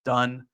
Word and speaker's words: Dunn: Dunn finally figured out how to pronounce his real name it's done um but you know